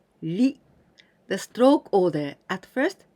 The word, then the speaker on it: 理: This kanji's meaning is reason, and we pronounce ri.